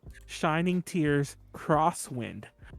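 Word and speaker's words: Shining Tears X Wind: this anime is called shining tears crosswind you do pronounce the x but not as an x it's pronounced as cross that's annoying and have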